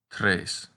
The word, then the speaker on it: tres: the letter a but if you know the numbers in spanish it's easy to remember that three in latin is pronounced tres the short version of